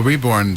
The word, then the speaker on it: re:bourne: The way that you would spell it is R-E, and then with a colon, B-O-U-R-N-E. So the bourne is obviously referring to Sittingbourne, but the with the colon is regarding.